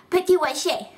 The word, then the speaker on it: Petit-Rocher: Yeah, Petit-Rocher. Rocher, Rocher, Rocher, Rocher. And we'll show you on the map. It's right there. See? Petit-Rocher is east of Toronto and it's in New Brunswick.